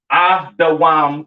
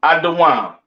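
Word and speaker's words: אדום: All right, pronounced Adawam in the Hebrew. All right. Edom Adawam.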